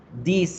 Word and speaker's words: this: Now, this is se pronuncia de esa forma cortica. This is, this is, this is. Y la plural se dice these are, these are, these are. Hay que aprender a pronunciarlos para que no se confundan entre los dos. This, these, this. El segundo se alarga un poquito.